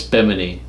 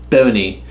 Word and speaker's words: Bimini: That's not how you say that. I don't think that's how you say It's that either. it's Bimini. I was just there. It's Bimini.